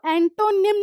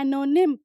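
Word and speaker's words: antonym: Next देखो, एनोनिम of detain, देखो एंटोनिम नहीं बोलोगे कभी भी, एंटोनिम नहीं होता, प्रोनाउंसिएशन होती है एनोनिम, टी साइलेंट होता है, क्लियर।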